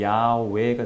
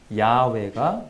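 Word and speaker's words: 야웨: 그런 과정이 있었구나 그래서 원래 발음을 보건 한다면 이 야외가 됩니다 야외 뭐야 회 라고도 하는데 야외가 정확한 발음 일 것이다 라고 현재까지 밝혀진 바에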